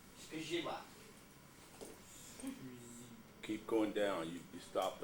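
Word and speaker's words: skrzydła: The L with the slash through it is pronounced like a W. So it's shkizhidwa.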